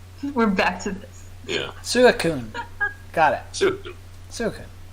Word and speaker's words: Suicune: Or I try and pronounce it. Puchina. Mightyena. Oh, I get it. Yeah, that works. Suicune. We're back to this. Yeah. Suicune.